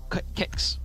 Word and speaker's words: KXCA: Not 100% sure how to pronounce that. Kicks. Kicks. Yes, not Kickstar, just Kicks.